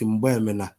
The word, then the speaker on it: Mgbemena: Correct pronunciation is Mgbemena.